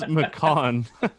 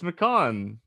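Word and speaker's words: McCaughan: dig into uh darren mcconkin mccocken is that how do we pronounce that um i think you nailed it nailed it dude no it's it's makon you think that's the khan it's mccon i looked this up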